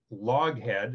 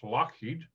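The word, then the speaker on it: Loughead: spelled l-o-u-g-h-e-a-d which is log head as people pronounce it but it's scottish so it's lockheed and they eventually changed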